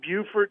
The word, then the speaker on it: Beaufort: It's in Beaufort, South Carolina. I think that's how they pronounce it.